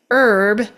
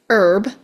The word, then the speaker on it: herb: You may hear people pronounce the word herb as herb where they drop the pronunciation of the H altogether. Herb or they pronounce the H and they call it herb.